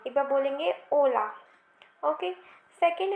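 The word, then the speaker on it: hola: Video में ही कि एच की जो प्रोनाउंसिएशन होती है वो होती नहीं है. ठीक है, एच जो होता है वो उसमें साइलेंट कहलाता है, लिखते हैं बट उसे बोला नहीं जाता है. ठीक है, तो इसे हम होला नहीं ओला बोलेंगे.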